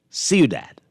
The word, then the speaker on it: ciudad: So so we got a wonderful text from a Spanish teacher saying that is pronounced ciudad, not the kind of Frenchy way I said it.